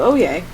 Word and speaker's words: Oye: That was his name, Oye. It's spelled O-Y-E.